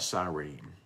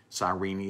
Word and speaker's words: Cyrene: Let's talk about Cyrene. Cyrene is how some would pronounce it there.